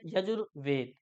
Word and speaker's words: यजुर: वेद यजुर यानी कि यजू अगर विसर्ग के साथ बोलेंगे तो यजह और वैसे इसका उच्चारण यजुर तो यजुर जमा वेद